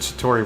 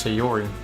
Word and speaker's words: Sayori: She's also the one who made the cupcakes according to oh, they pronounce it Satori, but apparently it's Sayori. Look at that.